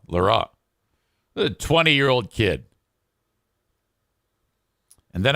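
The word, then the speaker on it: L'Heureux: And the pronunciation guide had it as Leroux. It said LE-RUH. So Leroux?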